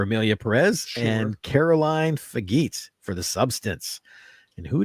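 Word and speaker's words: Fargeat: And Caroline Fagit for The Substance. And who did we have here? I know it's for Jet. It's pronounced for Jet.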